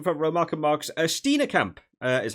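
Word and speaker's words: Steenekamp: front row Mark marks stetina Camp is how I heard the commentator say I kept call him Steen camp but I heard the the commentators kept calling it stetina Camp uh so I'll try and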